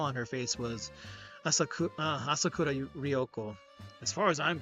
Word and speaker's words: Asakura: a load a bull asakura asak what asakura I was saying her name wrong asuro dioko was in